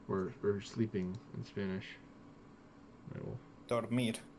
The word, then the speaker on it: dormir: Dormir, sleep, dormir. Dormid. I'm gonna sleep. Voy a dormir. Voy a dormir. I'm gonna go door. Like a door. Door. Door. Door. Mir. Dormid. Mir. Door. Dormi. Dormir. Dormir, like M-I-R? Yeah. Dormir. D-O-R. Dur. M.